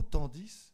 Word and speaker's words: tandis: le plaisir le mot tandis je sais que parfois on ne prononce pas le s à la fin hélas la 8 vient